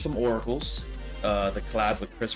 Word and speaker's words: Auracles: here it says um I think called Aurora am I saying it wrong I might be saying it wrong oracles I don't know why I said Aurora pardon me oracles no I can't believe I'm saying it wrong I'm so sorry um I think it's or R A you no I think I was right oracles yeah yeah oracles yeah so um these